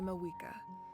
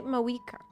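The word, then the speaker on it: Mavuika: Oh, and feel free to call me Mawika. It's what all my friends call me, and I like it that way. They don't pronounce the V. They say Mawika.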